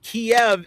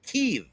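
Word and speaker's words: Kyiv: I was just corrected by our brother Thomas Triber that Kiev is an American pronunciation, and Ukrainians prefer that it's pronounced Kiev.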